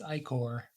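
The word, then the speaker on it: ichor: icker edwin i said it said icher too what the heck apparently it's icker his face masked in contemplation winifred gives a grim nod at his words at least according to this game according to uh searching the word in google and then hitting the play button it's i-core now i know i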